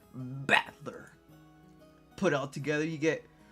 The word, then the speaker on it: Battler: It's made up from characters for fight and person. It's pronounced battler.